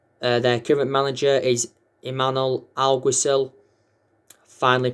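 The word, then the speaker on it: Imanol Alguacil: 15 la liga uh their current manager is emmanuel algosil finally pronounced his name correctly some will pronounce it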